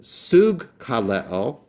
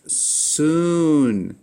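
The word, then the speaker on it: συγκαλέω: You had this ng The first gamma is always pronounced with an n sound, and then you pronounce the second letter as it's normally pronounced in the alphabet.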